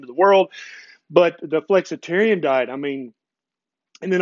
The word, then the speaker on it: Flexitarian: And then the Flexitarian, I mean, that's my favorite. It rhymes with vegetarian and it basically is